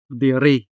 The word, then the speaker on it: diri: Diri. Diri, which means here. Diri. The stress is on the second syllable.